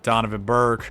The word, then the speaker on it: Donovan Burke: I'm going to re-sign Donovan Burke. It almost rhymes with Jonathan Kirk, like the baby.